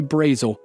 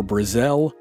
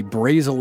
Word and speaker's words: Brazel: lease of Garrett's Ranch there doesn't seem to be a consensus about the pronunciation of Brazil's name it's either brazel or Brazil and my sources in Lincoln County New Mexico say Brazil is more common down there so we're going with that Brazil said he planned